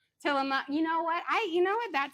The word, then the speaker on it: Tillamook: Some organites saying it's Tillamook.